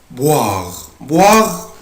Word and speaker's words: boire: اللي بعد كده verbe boire يعني يشرب يبقى انا بنطق الاو اي او الاو اي بنطقها boire يعني يشرب برضو